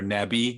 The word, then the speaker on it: Navi: app it's called cacao navi navi or nabi as they pronounce it here but uh yeah that